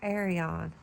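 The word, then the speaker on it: Aerion: And seeing Dunk going against Arion, that's how you say his name.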